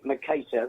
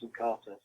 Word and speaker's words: Mercator: We say Mercator, but plenty of people ring us up and call us Mercator, so you're not alone in the name pronunciation.